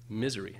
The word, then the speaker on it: misery: Misery has 3 syllables, and the stress is on the first syllable, misery. But those 2 second syllables are not equally, they're both unstressed, but the second one, the z, has a reduced vowel. It's just a short little misery.